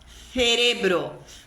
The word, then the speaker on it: cerebro: Então, em determinadas regiões da Espanha, a letra Z, a letra zeta em espanhol e a sílaba C seguida de E C seguida de I são pronunciadas com a ponta da língua entre os dentes. Então, por exemplo, zapato, cielo, cerebro. Ponta da língua entre os dentes e na hora que você pronuncia essa sílaba, você assopra.